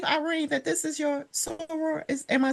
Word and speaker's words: soror: And also, I do believe, Irene, that this is your soror.